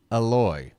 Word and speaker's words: Eloy: the E it's uh the syllable you stress the the second syllable it's aloy aloy Jimenez so sorry about that